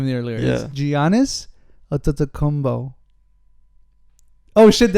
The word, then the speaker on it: Giannis: in the earlier yeah giannis combo oh did i say it wrong is it giannios pretty sure it's giannis don't look at them